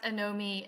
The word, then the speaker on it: Anomie: young so it's at anomi XR so um a-n-o-m-i-e XR it's like uh it sounds like I know me that's really what we're going for but it's it's not spelled like that you can also find